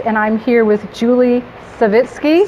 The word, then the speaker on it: Savitsky: I'm Brigid Air, your host, and I'm here with Julie Savitsky. Savitsky, yes.